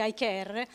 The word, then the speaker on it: AICARE: allora io come eyecare si scrive hi care si legge eyecare richiama like her di